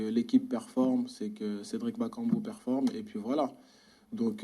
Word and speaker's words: Bakambu: le reste oui bonjour cédric déjà une la prononciation votre nom mais je suis journaliste aux radios ondimba kangoo ou bac en but bakambu bakambu cédric bakambu et bacon but ça ça vous plairait dans les semaines et